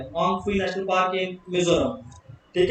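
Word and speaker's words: Phawngpui: Hong फुई. P silent है.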